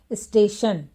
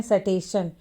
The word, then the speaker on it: स्टेशन: जैसे स्टेशन, तो यहाँ पर देखिए स है, तो कुछ बच्चे पढ़ते हैं सटेशन, लेकिन यहाँ इसे पढ़ना है स्टेशन।